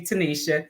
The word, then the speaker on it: Tenita: It looks like Tenita, but it's actually Tanisha.